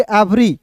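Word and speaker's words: every: तो इसे इवरी नहीं पढ़ेंगे। इसे पढ़ेंगे एवरी।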